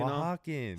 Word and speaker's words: Oaxacan: You Oaxacan. know, Oh. Can you say it again? No. Can you say it one more time slowly? Oaxacan. Hey. So I don't. So the O is silent.